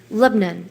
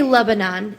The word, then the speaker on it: Lebanon: You know, um I have family around Nashville and Lebnon. Am I saying that right? Lebanon. Yeah. Well, I say Lebanon and they say no. Lebnon.